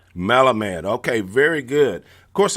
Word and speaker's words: Melamed: Melamed. Melamed.